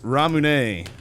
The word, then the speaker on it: ramune: So, ramune, I think that's how you say it. Depending on, everyone gets mad at me on the internet when I say it that way, but also I'm pretty sure that's the right way.